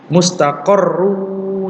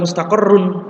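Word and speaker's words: مستقر: Mustaqarru ya, bacanya mustaqarru. Jadi bukan mustaqarrun ya. Kenapa bukan mustaqarrun? Karena ini bertemu dengan waw.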